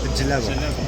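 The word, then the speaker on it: djellaba: Jalaba.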